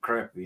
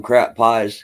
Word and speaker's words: crappie: We call them crappie in Georgia. No, the A's like got the funk sound to it. I like pissing people off. I call them crap pies because that's how it's spelled.